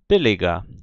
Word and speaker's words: billiger: O grande problema acontece quando os alunos, depois de aprenderem essa pronúncia, começam a aprender a usar as terminações, as declinações, porque a pronúncia muda, ou seja, billig vira billiger, quando eu acrescento uma terminação.